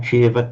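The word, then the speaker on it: ceva: anupanna sak Now remember that the letter C is always pronounced as a ch. It's just the way we do it. So cheva. panacha a That's cheva.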